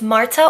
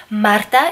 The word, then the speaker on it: Marta: if you're new here my name is Marta or you can say Mota if you can roll your R's either way is okay by me so there's just trying